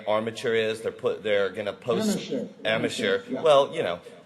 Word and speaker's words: Amacher: They're gonna post Amateur. Yeah. Well, pronunciations. Yeah, I know. When you look at it being spelled, it's AMACHER. So it's amateur for some people.